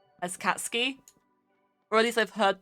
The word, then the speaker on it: Katsuki: eye will there'll be two eyes so you'd pronounce it katsu ki and it just annoys me that i've heard